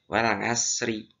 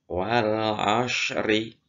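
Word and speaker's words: والعصر: Jangan tipis, kalau tipis nanti akan berubah menjadi huruf sin, wal asri. Nah, tapi untuk huruf shad itu harus tebal. Wal ashri.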